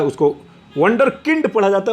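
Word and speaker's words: Wunderkind: हो जाए तो उसे वंडर किंड कहते हैं. ये वंडर काइंड अंग्रेजी का शब्द नहीं है. वंडर किंड स्पेलिंग तो WO नहीं है, WU है. वंडर किंड है.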